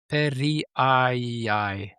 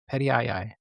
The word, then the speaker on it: perrieri: The specific epithet perii, oh, they say the pronunciation here in English is perii, perii.